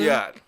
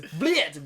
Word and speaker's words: Blyat: Booyah. Is that what it? Bulyat. Bulyat. What is it? It's B-Y-L-A-T. Booyah. Bulyat. Blyat. Blyat. Yeah. Blyat. Blyat. It's Blyat. B-L-Y-A-T. Blyat. That's how it's spelled.